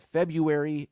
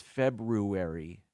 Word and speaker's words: February: this many years ago I've made it a point to pronounce that r in the middle it's not February it's February and I I I